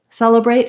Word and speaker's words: celebrate: let's look at celebrate celebrate also has first syllable stress and again letter e here has the e vowel that's the same vowel as in red or the word sell like selling something then